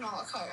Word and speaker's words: malachite: M malachite not malachite malachite no malachite it's pronounced malachite I know I know should good or in